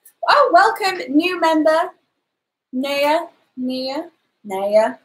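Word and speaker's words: Nea: Naya. I think N-E-A is pronounced Naya.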